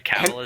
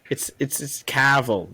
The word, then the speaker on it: Cavill: I know Henry Cavill is in it, and that's all I need to know.